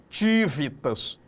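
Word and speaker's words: civitas: Então o termo ele vem do latim tívitas. A gente vai pronunciar aqui esse C meio T, né?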